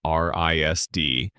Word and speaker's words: RISD: He enrolled at the Rhode Island School of Design known to the people who go there as RISD which rhymes with something close to RESD.